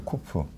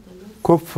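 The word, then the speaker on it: קוף: 그래서 이게 쿠프인데 이거는 그야말로 우리 키역 발음이에요. 키역 발음. 그래서 쿠프. 그래서 이건 아무 부담 없이 K 발음을, 키역 발음을 그대로 하시면 돼요. 근데 이 녀석은 이 K 발음을 여기 목에서부터 끌어내야 돼요.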